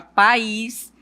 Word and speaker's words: país: No momento de você pronunciar a sílaba, você vai perceber que aqui no caso de pais, a sílaba tônica é pá e na palavra país é no a sílaba mais forte.